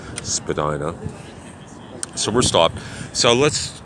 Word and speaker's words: Spadina: coming up to the Spadina Spadina svidaniya take your pick on how you want to pronounce that but most of us folks in toronto call it Spadina so we're stopped so